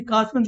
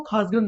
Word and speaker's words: कासगंज: अब ब्रिटिशर्स क्या थे, अंग्रेज क्या थे, वो का सही से उच्चारण नहीं कर पाते थे तो खा बोलते थे, तो उसी कासगंज को वो खासगंज बोलते थे।